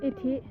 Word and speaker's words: อิทธิ: อ่าน ว่า อะไร เนี่ย อะไ นะ สิษ อิฐ อิทธิ อิทธิ เหรอ สสนน นึก ว่า อ่าน ว่า อิฐ นี่ เอา ใหม่ อ่าน ใหม่ มา นะ พิพิธภัณฑ์